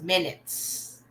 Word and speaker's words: minute: So we don't say minute, we say minute.